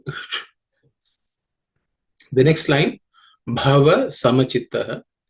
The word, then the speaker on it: bhava: The first letter bha is the fourth letter in the pa varga or per class of consonants. It has to be aspirated. So it should be bha with a little extra air.